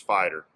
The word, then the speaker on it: Feider: your last name up i believe it's pronounced fighter uh with just a